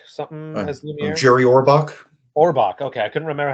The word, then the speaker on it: Orbach: Potts, David Ogden Stiers as Cogsworth, and what is it, Jerry Robach, something as Lumiere? Jerry Orbach. Orbach. Okay, I couldn't remember how you Yeah, pronounce his yeah, last name, but yeah, those